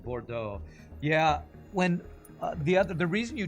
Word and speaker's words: Bordeaux: So like you learn that E-A-U-X is O, Bordeaux.